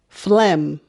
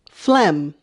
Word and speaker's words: phlegm: a problem spelling because i always forget the g which is also a silent letter um phlegm phlegm that phlegm oh and the ph